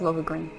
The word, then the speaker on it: Lohengrin: so this is Lohengrin castle the ancient stronghold of saints and law gathering place of the warriors of old it looks even more beautiful up close so it is pronounced lava grin I've been here several